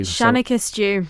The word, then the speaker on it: Shennaghys Jiu: Shanikus dw shanakus stew.